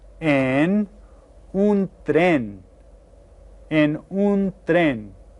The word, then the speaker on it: tren: En un tren. And that sounds kind of like the way we pronounce this word in English, doesn't it? We call it a train, en un tren.